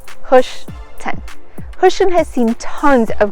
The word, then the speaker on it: Hoschton: don't know why but this little town is forever being mispronounced so say it with me push 10.